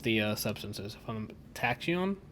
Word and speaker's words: tachyon: t-a-c-h-i-o-n-s that's what the uh substance is from tachyon tachyon i know how to pronounce it it's in the show as well